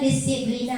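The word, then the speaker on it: disciplina: berasal dari bahasa latin bacanya disciblina tulisannya disciblina bacanya disiplina yang artinya belajar Oke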